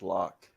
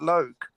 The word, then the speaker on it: Loc: That's LOC is not Loc, that's Lock or That Well, you doesn't tell make that to sense. Tone Lock. He pronounced it Loke.